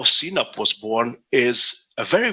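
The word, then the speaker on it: CNAPP: new kind of category something called cnap again pronounced the cena please cloud native application protection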